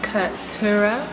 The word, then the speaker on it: Keturah: It's pronounced Keturah. It's Hebrew.